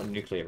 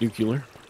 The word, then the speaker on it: nuclear: Starlight Starlight who's playing right now they spell nuclear wrong it is pronounced Nuclear by the way if you've made it this